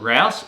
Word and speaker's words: Rouse: My name's Rouse, Rhymes with House, and this week we're